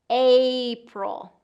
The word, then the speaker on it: April: The biggest thing for April is get that long A sound in there. So we have to really get that full movement. I hear a lot of my students reduce this first vowel and then it doesn't quite sound right.